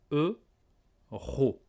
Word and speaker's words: euro: faut bien prononcé euros eu ro eux la bouche un peu en avant un peu ronde eu ensuite rupo bien respirer et raw en relâche l'air avec la gorge eu ro alors écoutez et répété